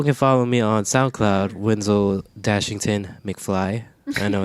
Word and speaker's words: Winzel: Winzel. Boom, Pronounce Winzel like a ZEO or ZO.